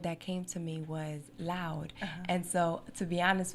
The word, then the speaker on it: Loud'e: on top of the D mean do not pronounce the letter after okay so it's l o u d aoop e but it's still loud uh lipsticks